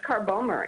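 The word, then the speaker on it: Carbomer: part bomber what is car bomber anyway you are you familiar with that no I don't know that spell it again Linda G AR like the car Bo m er a polymer made from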